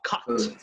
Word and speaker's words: cut: Más hacia cut. Yes, that's right. So if you're British, you're going to pronounce the T like that.